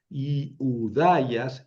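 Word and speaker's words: Ἰουδαίας: Betlem tes yudayas yu hay sonido u eh con yota al principio y udayas y udayas diptongo hay yudayas. Pongo el acento sobre la iota, pero la pronuncio sobre la alfa.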